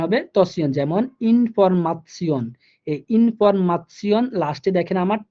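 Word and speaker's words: Information: যেমন ইনফরমাশন, এই ইনফরমাশন লাস্টে দেখেন আমার TION আছে, এই TION থাকার কারণে এটার উচ্চারণ হয়ে গেছে তসিয়ন, ইনফরমাশন।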